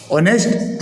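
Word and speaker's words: honest: नोक के साइलेंट है ऑनेस्ट ए साइलेंट है डेप्ट ब साइलेंट है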